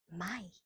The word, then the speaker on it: Mai: Then, of course, after April comes May, and May in German is also almost the same, because May in German is Mai.